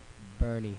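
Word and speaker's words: Boerne: e r oh there we go go ahead bernie bernie bernie it is all right that's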